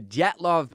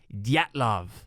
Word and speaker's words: Dyatlov: Dyatlov. Right? The D is like almost silent, but not quite. Don't you you touch it just a teensy bit.